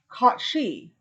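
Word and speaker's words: Cait Sidhe: in a berry cat called the cot she and it's spelled c-a-i-t space s-i-d-h-e translated to fairy cat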